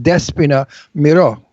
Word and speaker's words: Despina Mirou: It's pronounced Despina Mirou.